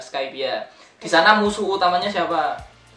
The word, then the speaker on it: Skypiea: Ada yang baca Skypiea, ada yang bacanya Skypiea. Kalau aku sih lebih enak Skypiea.